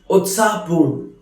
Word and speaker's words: उत्साहपूर्ण: उत्साहपूर्ण, which is pronounced as उत्साहपूर्ण, which means very excited, very lively.